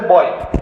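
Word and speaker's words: buoy: y this floating sensor name b u o y you can pronounce it as a boy okay name and this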